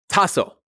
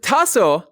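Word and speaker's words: taso: Lee in a sentence then we have tassel t a s o it's drawn with one vertical line and then on the left side a small horizontal line and tasso is both a particle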